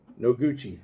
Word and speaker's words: Noguchi: guy is hijo noguchi no gucci is how you say his last name hideo first name noguchi